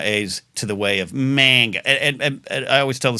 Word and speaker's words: manga: but like it's the manga versus manga, and it's manga. So I have a tendency to take my A's to the way of manga, and I always tell